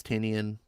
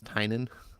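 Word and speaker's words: Tynion: camp features writers like James tinian which I've recently found out is pronounced James Tynan it's still hard for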